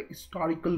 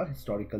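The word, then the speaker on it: historical: इन some cases, कुछ cases में where H is pronounced such as हिस्टोरिकल, यू कैन यूज एन, क्योंकि यहाँ पे हिस्टोरिकल बोला जाता है, इसको एच को साइलेंट में रखा जाता है। लेकिन यहाँ पे ऐसा भी नहीं है, कुछ लोग अहिस्टोरिकल भी बोलते हैं।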